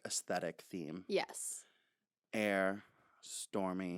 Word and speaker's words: Aire: Is that pronounced like air, or is it pronounced like airy, like stormy and airy? She did clarify that it is in fact pronounced air, but I'm sure that they call him airy, like airy.